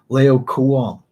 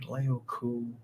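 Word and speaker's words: Laocoön: guy's pronounced this right, Laocoon. Would that be right? Laocoon. We'll go with that. Laoc, double O with an umlaut over the second O-N is how that's spelled.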